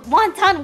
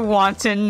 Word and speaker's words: wanton: witness will frame from wanton winking want please say it wanton not like want on like the thing that you eat oh